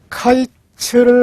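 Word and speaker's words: קיץ: 여름 과일을 뜻하는 히브리어 낱말은 카이츠입니다. 그리고 끝 종말을 가리키는 낱말은 캐츠입니다. 그러니까 하나님이 카이츠를 아모스에게 보여주셨어요.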